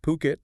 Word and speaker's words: Phuket: Remember, it's pronounced Puket, not Fuket.